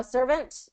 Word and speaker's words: servant: te in there but sometimes like in servant you know servant if you don't get that te in there you'll have a Mis you know it'll sound it won't sound correct so always air on